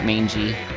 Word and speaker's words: Mangy: Mangy. That's the way it's pronounced, is Mangy.